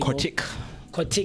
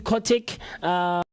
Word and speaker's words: Kortrijk: Did I pronounce that correctly? Kortrijk. Yeah, so those letters, they don't normally pronounce them. Oh, okay.